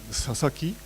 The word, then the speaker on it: Sasaki: The first three are pronounced Sasaki, Sasaki, which is a popular family name of Japanese.